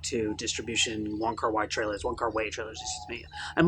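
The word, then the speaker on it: Wong Kar-wai: distribution wonka wide trailers one car way each other's excuse me i'm learning his name is pronounced one car way so i'm going back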